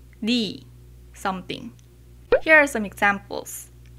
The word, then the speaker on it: 네: for you in Korean, which is 너 or 네. When you pronounce 네, 네 is correct according to standard pronunciation. It often sounds like 네, so they can be confusing. So people usually pronounce it just 니.